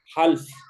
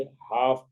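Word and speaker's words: half: पढ़ा जाएगा इसी तरह हल्फ हल्फ नहीं पढ़ा जाएगा बल्कि हाफ पढ़ा जाएगा एल साइलेंट है और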